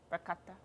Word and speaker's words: ricotta: Ricotta. Ricotta. Is that how you say it?